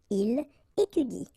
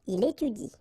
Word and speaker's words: étudie: should pronounce it like il étudie. Okay, so the last thing that you will pronounce will be the vowel I here. Okay, il étudie.